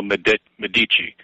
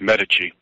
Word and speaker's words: Medici: Actually, I pronounced it wrong. It's Medici, Cosimo Medici.